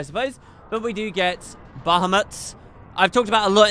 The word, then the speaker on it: Bahamut: Am I saying it right now? Not Bahamut. Bahamut.